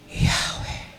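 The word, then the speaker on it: Yahweh: may kasamang paghinga yahwe may kasamang paghinga hindi lang yung yahwe kundi yahwe Because yahwe is life in itself Ang Diyos ang ang Diyos si yahwe nagbibigay ng hininga natin Ganun daw ang pronunciation at yun ay Old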